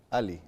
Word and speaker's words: Ali: A, ¿cómo se pronuncia su apellido? Ali. Ali.